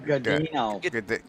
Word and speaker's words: Godino: Hamish, how the hell do you pronounce that? I'm sorry. Godino.